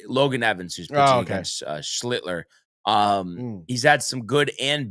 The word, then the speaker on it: Schlittler: I mean, was it going to be Scheitler? It's Schlittler. Schlittler. It's not shit. It's Schlittler. Yeah, that's it.